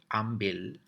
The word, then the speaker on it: ambil: So the formal or the standard pronunciation of these words are AMBIL and BAWA. But in conversations or when we're speaking to a local, you may hear the words pronounced as ambil and bawa. So there's additional K added to the ending of both words.